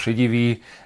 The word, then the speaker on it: Šedivý: Okay, so my name is Miroslav Šedivý, and unfortunately my name is sometimes invalid.